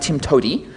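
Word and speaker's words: TIMTOWTDI: way to do it which is pronounced Tim to um I'm going to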